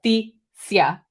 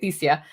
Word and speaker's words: Thesia: Thesia, I believe is how you say it, Thesia.